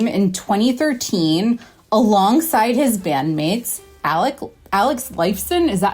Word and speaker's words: Lifeson: of Fame in 2013 alongside his bandmates, Alex Lifeson, is that how you say it?